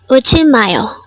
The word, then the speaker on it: 울지마요: This is pronounced as a 4-syllable word. The first syllable is ul, second syllable is ji, third syllable is ma, and fourth syllable is yo.